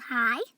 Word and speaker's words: high: We have high, because GH is silent, so just high.